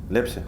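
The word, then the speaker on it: Лепсе: Лепси? Лепси, да. На первый слог ударения.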